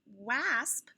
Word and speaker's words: wasp: across this word and it sounds like wasp when you try the a apple a sound p can see hey there's a w there mrs b said that can sometimes sound like an o so wha osp a wasp nobody likes to get